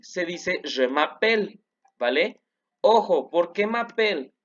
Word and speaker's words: je m'appelle: Entonces, je m'appelle. Ojo, no se pronuncian estas dos letras de aquí.